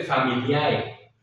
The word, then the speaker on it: familiae: Regina, y se escribe familiae, familiae, terminación AE. Pues esa AE sabemos que, ¿no? Ya no tiene el sonido AE, sino que en la norma italiana se pronuncia E, ¿sí?